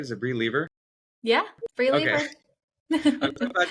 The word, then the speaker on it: Bri Leever: are here now with brie lever am I pronouncing that right is it Bri lever yeah Bri I'm so glad you're here welcome